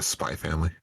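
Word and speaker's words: Spy × Family: You don't pronounce the X. It's a Spy Family.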